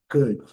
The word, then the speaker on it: could: outros, são os modais, could, should, lembrando, letra O silenciosa, letra L silenciosa. E a pronúncia é bem simples, bem curta, bem rápida. Cut, cut, cut. Esse u lá do fundo da garganta, bem curto, bem rápido. Cut, não pode, nem c, nada disso. Cut, cud, cut.